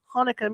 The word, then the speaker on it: Hanukkah: The Hebrew word is actually pronounced with a guttural k, I can't do it, sound.